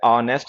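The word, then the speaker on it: honest: ऑनेस्ट है, आवर है, एयर है, ऑनररी है, ऑनरेबल है, इनके साथ में एन का यूज क्या करो, क्योंकि एच इन में साइलेंट होता है, ठीक है।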